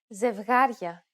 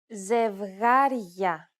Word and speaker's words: Ζευγάρια: In the first, you will notice the addition of a sound very similar to the English Y in the word yard between the consonant and the opening diphthong. For example, Ζευγάρια.